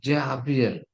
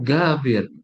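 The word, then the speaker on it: جابر: di makan itu gini Jabir namanya itu Jabir Ummi Jabir tapi karena dalam bahasa Mesir Jim itu dibaca G makah dibacanya gabir ya gabir Nah terus Alhamdulillah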